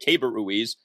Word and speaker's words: Keibert Ruiz: We're now being told that's how you say it, Keibert Ruiz, as one of the top catching prospects in all of baseball.